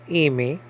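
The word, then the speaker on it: εἰμί: So it's not hey, it's A or E. The modern Greeks will pronounce this Amy.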